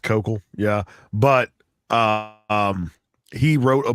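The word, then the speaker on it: Koukl: My boss over at STR Videos, Greg Kukul, answers. Listen now. Yeah, because they do like a podcast over there. It's ridiculous. So his name is Kokol. It's pronounced Kokol.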